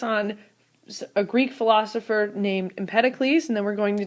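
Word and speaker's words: Empedocles: a Greek philosopher named Impeticles and then we're going to discuss how the atom has evolved all the way through someone that you've heard of known as John Dalton. Now impeticles, it's not empidals, but empeted can sometimes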